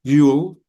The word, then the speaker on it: you'll: You'll, como si tuviera una L.